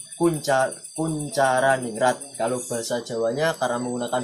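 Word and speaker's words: Koentjaraningrat: Nah, karena masih menggunakan ejaan lama, jadi dibaca Koenjaraniningrat. Jadi Kuncaraningrat.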